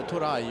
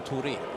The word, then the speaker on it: Touray: a-landskamper för Gambia och hans efternamn ska uttalas med fransk aai och då blir det inte touray utan Touré ifall ni undrar han